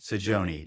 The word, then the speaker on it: Saggione: Am I pronouncing Sajon? Sajon.